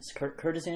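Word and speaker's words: courtesan: name for a prostitute Curtis curtisan is how you pronounce the word Curtis prostitutes who work in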